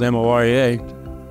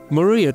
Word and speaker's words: Morea: Well, it gets to my name, which is spelled M-O-R-E-A, pronounced Morea. But he looked at it and he said, "Maria to Korea."